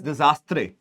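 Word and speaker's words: désastre: Now, this is the pronunciation that I'm making might sound funny, but again, it is known as disastre or disaster. This is the pronunciation that is there.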